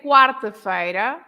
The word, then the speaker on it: quarta-feira: So, for example, we say quarta-feira, Yeah. but then we say quinta-feira, right? Ah, good So example. Okay. quarta-feira, because Yeah. we pronounce the Q-U-A, Yes. but we don't pronounce the Q-U in quinta-feira. Well, that's a So- really